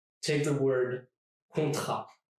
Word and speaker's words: contrat: Take the word contrat. Contrat. The T here is silent, which makes it sound like this. Contrat, and not contrat.